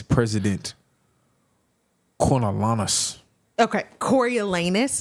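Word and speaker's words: Coriolanus: says president coralus okay cor elanus is the pronunciation is that what you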